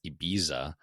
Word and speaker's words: Ibiza: So like I think the interesting part with Ibiza is like it's set pronounced Ebiza, but in Spain, everyone says IA because, you know, the Z's are like th's.